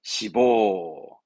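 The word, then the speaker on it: 脂肪: 그래서 발음은 시보, 시보 하죠.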